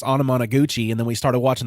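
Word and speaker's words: Anamanaguchi: did I was like, the band's name's hard to even spell, but it's pronounced Onomonoguchi.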